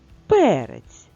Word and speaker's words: перець: цьому слові читаємо наступне слово перець і наголос на першому складі тож і перець Ми